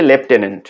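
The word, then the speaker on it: lieutenant: লেফটেন্যান্ট বানান করতে হবে LIE লাই, তারপর ইউ, তারপর টেন TEN, তারপর হচ্ছে ANT লাই ইউ টেন অ্যান্ট, মানে মিথ্যা তুমি 10 পিঁপড়া, এরকম একটা টেকনিক দিয়ে সবাই মনে রাখে। তো উচ্চারণটা হচ্ছে লেফটেন্যান্ট।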